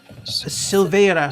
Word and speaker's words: Silvera: Silvera. Silvara? Sindra. Silvera. Silvera. You can Okay, say it that's how a you like. slant I rhyme with Navarra and Shannara.